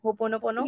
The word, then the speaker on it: Ho'oponopono: Ho'oponopono?